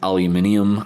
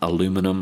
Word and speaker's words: aluminium: industry or a giant aluminium aluminum as Americans say industry.